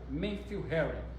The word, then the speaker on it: Matthew Henry: livro de Matthew Henry, ou pronúncia correta, Matthew Henry.